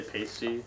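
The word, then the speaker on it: Paiste: Pasty? Pasty? That's how I hear it. Pasty? You're a drummer, so you should know this. I would say pasty. It's Pasty, pronounced gong, and what's that?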